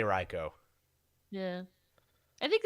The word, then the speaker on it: Raichu: so yeah raichu's back reichow Raichu Reiko how do you say it I am a right I say Reiko yeah I think it's